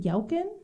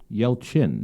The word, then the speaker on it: Yelchin: katie connor um anton is it yelkin yelchin yelchin thank you i always uh like